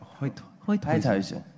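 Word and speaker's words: Heythuysen: I played down in the south of Netherlands, in a place called Hoytoisen. Hoytoisen! Hoytoisen. It's not German. How do you say it? Like Heidhausen.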